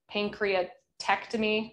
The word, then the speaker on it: pancreatectomy: situation they can obviously do a total pancreas pancreatectomy that's how you say it removing the pancreas